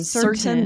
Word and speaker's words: certain: And this is interesting, where when I say it this way, I'm more likely to pronounce the T, to say I'm certain about this.